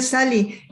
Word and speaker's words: Sahli: que lleva mi nombre, se llama Sali Escritor. Bueno, ahí lo pueden buscar, se escribe con una H intercalada.